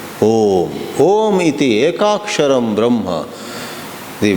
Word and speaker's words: Om: It is made of a, u and but because of sandhi, it merges into a single syllable, Om.